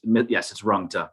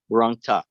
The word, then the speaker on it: Rungta: To Mr., help me again, is it Runta? Did I pronounce that correctly? Yes, it's Rungta, exactly. Runta. Okay, thank you.